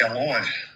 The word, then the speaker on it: Elois: The actual pronunciation of it is like Elois.